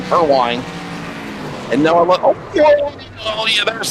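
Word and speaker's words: Perwin: Pure perine I believe is how you say it. P E R W I N. Per wine.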